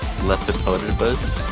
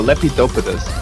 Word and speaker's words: Lepidopus: kind of like a correct me if I say it wrong leotus leus leip leipus I believe no lepidopus there you go yeah lepidopus like his mapping style